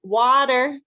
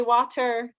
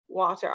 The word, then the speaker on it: water: $20 so 20 um water we don't say water of course if you're British then I do think you say water I think but in America anyways we we change it to a d I guess we're lazy